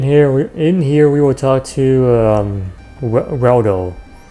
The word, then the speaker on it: Reldo: In here we will talk to Reldo. Rhymes with Waldo, but anyway, Reldo.